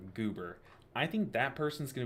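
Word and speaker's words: Geuber: It's spelled G-E-U-B-E-R, Goober.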